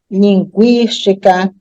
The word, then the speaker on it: linguística: agora o exercício perceber linguiça enxague Equino frequência linguística bilingue então nessas sílabas o u é pronunciado então mas eu